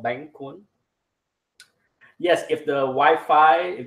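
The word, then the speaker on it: Bánh cuốn: I'm making Bank 1 this is the right pronunciation for this dish called Bank kun yes if the Wi-Fi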